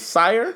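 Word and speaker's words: SYRE: man how do you say his name s sire sire sire bro just listen to the first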